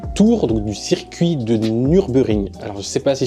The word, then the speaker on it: Nürburgring: donc du circuit de Nürburgring. Alors, je sais pas si je prononce bien. Il y a un tréma sur le premier U, donc c'est U.